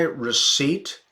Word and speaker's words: receipt: do I need my receipt to return these gloves yeah receipt with that silent P okay stop associating with